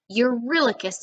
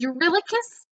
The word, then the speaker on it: Eurylochus: Eurylochus rhymes with reckless a little bit.